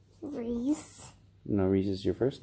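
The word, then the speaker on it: Rhys: Reese. No, Reese is your first name. Michael? Yep. Do you know how to spell that?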